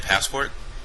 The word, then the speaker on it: passport: have a pport oh do you mean a passport yeah passport your turn say the word passport